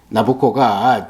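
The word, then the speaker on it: Nabucco: 베르디오 오페라 나북고라고 했잖아요 나보코가 내보코넥사 황제의 이름의 이태리식 발음이에요 거기에 나오는 히브리 노예들의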